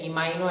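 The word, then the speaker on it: imino: तो आपको एमसीक्यू मिलेगा which of the following is इमिनो acid, which of the following is इमिनो acid या इमाइनो acid, आप what ever you read it, amino acid, so it's your proline.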